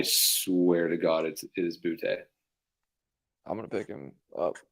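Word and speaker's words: Boutte: I swear to God, it is Butte.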